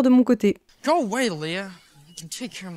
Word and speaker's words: Leah: Alors, petite erreur découverte au montage, on dit pas Lee, mais on dit Leah apparemment, voilà.